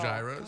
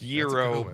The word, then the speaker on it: gyro: But you the people that call them gyros. God. Good lord. A lot of people call them gyros still. Yeah, it's a good It's euro but yeah.